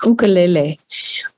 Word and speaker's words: ukulele: It's pronounced ukulele in Hawaii, because it's a Hawaiian instrument, or at least one of the ukuleles is a Hawaiian instrument.